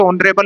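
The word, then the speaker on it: honour: जिसमें कभी भी फ्रेंच भाषा में जो अगर एच से वर्ड स्टार्ट हो रहा है तो उसको प्रोनाउंस नहीं करते। इसी कारण से ऑनरेबल हो गया, ऑनर हो गया, पावर हो गया। इन सभी में एच साइलेंट है जो इंग्लिश में आए हैं।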